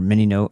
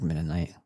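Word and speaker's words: Mennonite: She was also from a minite family or Minino. People pronounce it all different ways. I like Menite.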